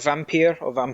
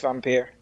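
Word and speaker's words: Vampyr: I really liked Vampire. Or Vampire. Same. I don't know how to pronounce it. No, it is. It's Vampire, but you got to roll your R's, which I did on the podcast.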